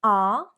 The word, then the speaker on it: our: You could say our car is parked there, our car is parked there, or our car is parked there. Our, pronounced like hour, 1 hour, time, or are, pronounced like the verb, are, we are happy.